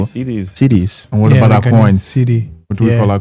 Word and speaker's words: cedi: Sadies. However people pronounce it. Americans pronounce it different than Ghanaian African people. CDs.